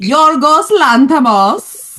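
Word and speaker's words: Yorgos Lanthimos: I'm not going to try to say his name but like Yorgos Lantamos.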